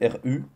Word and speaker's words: ru: Le passé se prononce ru, ru, devant le verbe, et le futur quant à lui se prononce ven, ven, pareil devant le verbe.